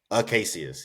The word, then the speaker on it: Acacius: Acacius. That's Paul. Yeah, Acadius is the general. Okay. Aclacius, I'm sorry, Aclacius or Acacius. Acacius, yes.